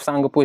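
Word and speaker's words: Tsangpo: तो सांगपु तो सिर्फ सांगपु इसको पढ़ा जाता है। त का उच्चारण छुप जाता है।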